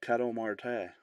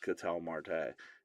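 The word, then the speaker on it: Ketel Marte: And I mean, listen, I'm nobody to make fun of pronunciations on names. I'm just saying if you watch baseball, you know it's Catel Marte.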